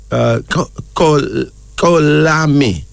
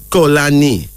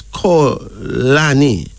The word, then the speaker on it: Xolani: Our first male name is Kolami. No, Kolani. But it's spelled Xolani. But it's pronounced as Kolani.